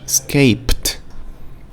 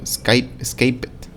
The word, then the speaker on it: escaped: Tenemos escape, escaped. Bake, baked. Adore, adored. Ok, no le decimos adored o bake it o escape it.